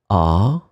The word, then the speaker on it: à: And the other one will be with the accent, remember the preposition, and it's pronounced exactly the same way, a.